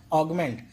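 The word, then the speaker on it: augment: Next word देखिए, यहाँ पे क्या करेंगे, आपको यू को नहीं पढ़ना है, इसे ऐसे पढ़ना है, ऑगमेंट।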